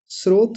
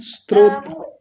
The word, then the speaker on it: स्रोत: चीनी का स्रोत स्त्रोत स्त्रोत्र नहीं गलत शब्द है। स्रोत होता है। स्रोत स में नीचे रेफ होता है। ओकार और तकार स्रोत।